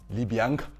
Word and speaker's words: Libianca: And at number 7, I think I might be saying this name wrong, so you might need to correct me. Libianca.